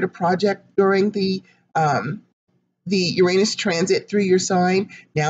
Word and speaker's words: Uranus: you out there saying it's not you're honest it's Uranus for some reason I feel like that's the way I should pronounce it so I do